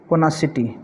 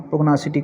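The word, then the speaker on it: pugnacity: पोनाशियसनेस ठीक है और पोनासिटी ठीक है यहां पे जी भी जो है वो साइलेंट है कुछ प्रोनाउंस कर कर लेते हैं पोग्नोशियस कर लेते हैं पोग्नासिटी कर लेते हैं और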